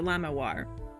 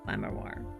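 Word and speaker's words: Lamiroir: cool yeah just just don't pronounce the first R so lamair lamair live translation part two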